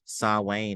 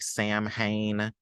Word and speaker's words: Samhain: So I'm gonna be talking about Sawane next. It looks like Sam Hain, but that's not how you pronounce it.